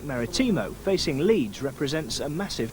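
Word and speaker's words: Marítimo: Maritimo, I'm told, by our Portuguese friends.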